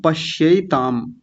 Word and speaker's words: पश्यैताम: प के बाद आधा श है, य के ऊपर दो मात्राएं हैं, ता और ऊपर बिंदी है, ऐसे पश्यैताम। य के ऊपर दो मात्राएं हैं तो य बोलेंगे, ये नहीं कहना।